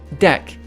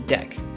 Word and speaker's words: deque: Okay, so this is dec, double-ended Q. Okay, but this is pronounced DQ.